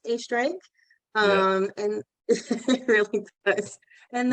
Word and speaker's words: Oestreigh: And then my last name looks like ostrich, but it's Oestreigh.